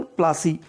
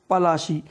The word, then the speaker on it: पलाशी: या anglicised version प्लासी, it means the real name was पलाशी, यानी जिस स्थान पर यह युद्ध हुआ था उसका रियल नाम था पलाशी, लेकिन इसका एंग्लिसाइज्ड यानी अंग्रेज लोग इसे प्रोनाउंस करते थे प्लासी।